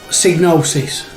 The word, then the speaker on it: Psygnosis: is the pronunciation yeah i've always said diagnosis because it would be cygnosis you know the y and the g being like yeah it makes sense so psygnosis that is how i